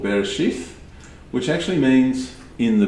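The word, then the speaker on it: בראשית: the english version of hebrew so we can pronounce what they actually are and so the first one is called bereshith which actually means in the beginning the second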